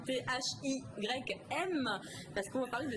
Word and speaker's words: thym: Alors, on va parler de teint, mais pas le même teint, ça s'écrit pas pareil. Donc le teint T-H-Y-M, parce qu'on va parler de sirop de thym.